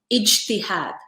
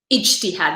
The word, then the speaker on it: ijtihad: I realize that this may sound eerily like jihad to many non-Arab ears.